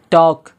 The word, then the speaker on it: talk: एम आया है तो क्या हो गया, एल साइलेंट हो गया। टॉक, TALK, टॉक नहीं भाई, क्या है, टॉक है,